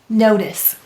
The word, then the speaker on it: notice: Now, why did the C say S, its second sound? That's right, the C softened to S because of the E. Let's read it. N-O-T-I-S, notice.